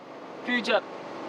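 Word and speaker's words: future: একটা বানান বললে উচ্চারণ করতে পারবা? বলো, এফ ইউ টি ইউ আর ই ফুটুরি না ফাটুরি? ফুটুরি। ফুটুরি না। স্যার। ফিউচার।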